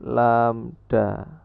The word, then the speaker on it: lambda: Simbol Yunani ini bacanya adalah lambda.